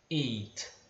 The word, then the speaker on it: eight: A pronúncia do 8 é eight, tá? Eight. E lembra, esse tzinho do final, eight, ele é bem leve. Você não deve pronunciar eight como se tivesse um i no final.